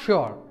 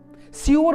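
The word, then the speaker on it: sure: হি ওয়াজ নট শিওর, সিওর বলবে না, শ, ওকে, উচ্চারণটা ঠিক করবে।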